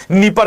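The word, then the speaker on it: Dnieper: राजधानी कीव है और सर यूक्रेन स्थित है नीपर नदी के किनारे यहां पे डी साइलेंट है।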